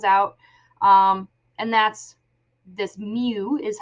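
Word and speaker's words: μ: decimal that comes out um and that's this Mew is how you pronounce that um and that is 9.09 so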